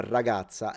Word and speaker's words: ragazza: with a Sicilian accent, I would say la ragazza and double the R in pronunciation. So a very strong R at the beginning of words is typical of a Sicilian accent.